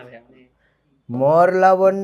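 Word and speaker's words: Mohr: বলে মোর সল্ট বুঝেছো এটারে বাংলায় উচ্চারণ লাগে মোর লবণ তোর লবণ না মোর লবণ আচ্ছা সো মোর সল্ট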